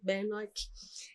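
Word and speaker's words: Benoic: Eu descobri que a pronúncia do nome do lugar é assim, Bennock.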